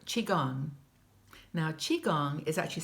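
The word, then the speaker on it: qigong: that Sher suggests is to practice something called chiong now Chiang is actually spelled Qi G NJ but it's pronounced Chiang in Chinese Chi means energy it's the energy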